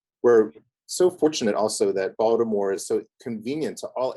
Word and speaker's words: Baltimore: It's not Baltimore. It's 2 syllables, Baltimore.